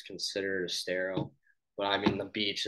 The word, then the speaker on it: Estero: Yeah, so they live right in, is it Estero or is that how you pronounce it? Yeah, so it's Estero.